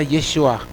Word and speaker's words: Yeshua: Qué significa Dios salva se pronuncia yeshua y significa Dios salva de hecho Es bien